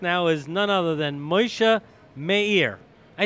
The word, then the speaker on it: Moshe Mayer: My guest now is none other than Moshe Meir.